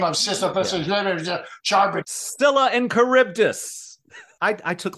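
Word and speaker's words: Scylla: remember the name of Sila and caribdis I I took Latin in school it's Sila and caribdis there you go that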